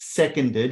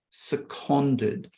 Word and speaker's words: seconded: know what that means it does not pronounced seconded it's pronounced seconded it's a condo means